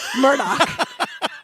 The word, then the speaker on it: Murdaugh: It's written Alex Murdaugh, but it's Alec Murdaugh. Like E-L-I-C-K, Alec Murdaugh is how you're supposed to pronounce this guy's name.